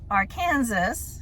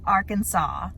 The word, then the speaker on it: Arkansas: those fun facts so instead of our Kansas you don't say that you say Arkansas the third fun fact